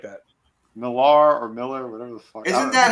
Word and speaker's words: Millar: It's Millar. But I think it pronounces is. it Miller. Okay.